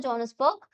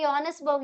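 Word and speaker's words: Johannesburg: जॉनसबर्ग jail. जॉन्सबर्ग की यनसबर्ग यनसबर्ग बोलते हैं।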